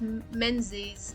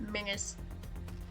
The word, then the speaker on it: Menzies: Now it's a Z, which is why it's Menzies and not Mingers.